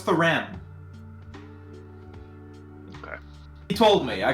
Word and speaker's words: Thuram: I really don't think his name is pronounced like that, but No, it's Thuram.